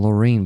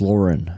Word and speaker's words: Lorraine: Rest in peace, I was always saying Lorraine, but he's Loren actually. Lauren. One of the rollers taught me that the pronunciation of his name, the correct one is Loren, not Lorraine. And it's just written like Lorraine.